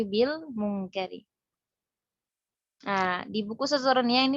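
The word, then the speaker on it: بِالْمُنْكَرِ: Jadi bukan bi al munkari, tidak, tapi bil munkari.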